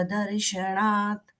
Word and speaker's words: दर्शनात: जिेंद्र तव दर्शनात दर्शनात न केण ण का उच्चारण नहीं है जो ण का उच्चारण है वो मूर्धन्य है यहां पर न है त थ द ध मतलब दन के उच्चारण है ता दर्शनात दर्शनात ओके थैंक